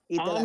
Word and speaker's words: AME: AME is AME. Ron, if you're prefacing this to get another star on the America Crest, I'm going to shut you down. AME is AME, okay? It rhymes with mommy.